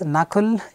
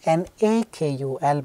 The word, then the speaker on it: Nakul: Fine, this is Nakul, N-A-K-U-L. By the way, a lot, many people have mispronounced this.